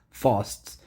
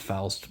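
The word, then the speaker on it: Faust: just one of many fosts. And yes, I know it's pronounced fast, by the way, but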